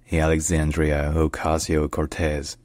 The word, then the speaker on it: Alexandria Ocasio-Cortez: is pronounced Alexandria alasio Cortez Alexandria alasio Cortez Alexandria Ocasio Cortez and in Spanish her name is pronounced Alexandria Ocasio Cortez Alexandria Ocasio Cortez Alexandria U Cortez right if